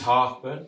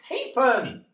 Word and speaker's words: Harburn: Harburn." Why do THEY DO THAT? IT'S NOT HARBURN, IT'S HAPEN. I know it's spelled Harburn, but it's Hapen.